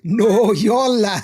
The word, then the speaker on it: Noyola: You No, can say no, Yola. I had to break it down for Lawrence. I said, let's go syllable by syllable.